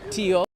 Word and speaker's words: Tokyo: for this month right Michael writes in here at Tokyo two syllables Tio so there you go